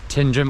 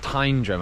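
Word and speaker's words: Tyndrum: up going to head into tindrum or it might be pronounced tyrum I think I had a Scott pronounce it tyrum so it's probably that um they're probably right and then it's just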